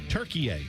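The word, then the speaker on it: Türkiye: Turkiye.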